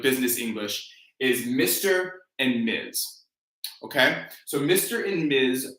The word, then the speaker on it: Ms.: So it's MZ, Ms. That's the pronunciation, Ms.